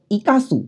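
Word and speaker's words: 生かす: kemudian kata berikutnya adalah Ika sub Halo tanji ini akan dibaca ikasu apabila dia bersebelahan dengan huruf Hiragana kadan Su kata ini merupakan kata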